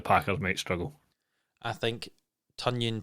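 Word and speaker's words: Tonyan: might struggle i think tanyan pronounced like an onion we'll have a good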